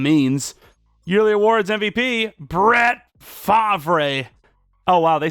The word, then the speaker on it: Favre: No, Brett, it's Favre. It is not Brett Favre. There isn't a V before the R.